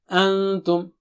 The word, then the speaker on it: أَنتُمْ: Antum. Instead of saying pink, sink, you say pink, kind of. Okay? And here you have to suppress it similarly. But we will learn more about this later on. Antum.